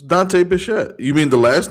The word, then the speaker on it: Bichette: But when I had his baseball card, It's Dante Bichette.